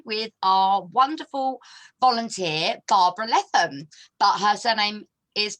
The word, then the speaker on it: Leatham: Welcome back to another live interview with our wonderful volunteer, Barbara Leatham. But her surname is pronounced Leatham, but spelt Leatham, but don't get it wrong.